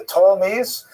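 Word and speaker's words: Ptolemies: Um the and you you have this part here is held by the uh the Tolmies spelled with a P t o lan.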